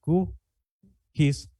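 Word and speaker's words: QGIS: de software existe un software llamado q Kiss que es qgs en inglés se escribe qgs que significa es una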